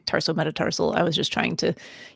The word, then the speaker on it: tarsometatarsal: And you did, just to be clear and keep us on the above the 50%, you pronounced it correctly, tarsometatarsal.